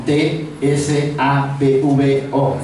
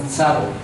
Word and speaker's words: Tsavo: de Tsavo, se llama, es con T, S-A-V-O, Tsavo. A ver si lo pueden pronunciar, Tsavo.